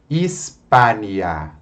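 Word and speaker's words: Hispania: O H não é pronunciado. Hispânia.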